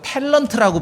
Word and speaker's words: 탤런트: 우리는 이제 성경에서 그냥 달란트라고 하는데 오늘날 이것을 왜어로 달란트라고 안 하고 탤런트라고 발음을 합니다.